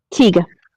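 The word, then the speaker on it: Taiga: How do you pronounce it? You know that. Tiga.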